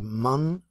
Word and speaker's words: moon: The moon and the sun. Some people say moon, so I'm just saying like a U, like extended U, como una U extendida.